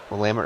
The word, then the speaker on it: Willamette: Willamette River. Or Willamette, if you're not a local. You don't know how to say it.